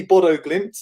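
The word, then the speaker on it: Bodø/Glimt: Yeah, your pronunciation seems pretty good, I think, Sia. Yes, definitely Bodo Glimt.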